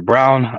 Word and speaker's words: Braun: Brown and then uh Braun or brown uh the other one they spell it b-r-a-u-n so it's still differently but they pronounce it as brown you know he's out